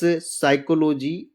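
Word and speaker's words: psychology: एस से पहले पी हो तो पी प्राय साइलेंट रहता है। कैसे? जैसे निमोनिया, न्यूमेटिक्स, साइकोलॉजी और साम।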